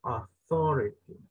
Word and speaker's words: authority: En la última es authority, es como que la U no la pronuncia, ¿verdad? Authority. Queda una A, como lamb, authority, ¿verdad?